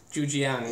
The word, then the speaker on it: Zhujiang: And it is Zhujiang Beer. Is that pronounced correctly? Close. Is it Zhujiang? Zhujiang, yeah.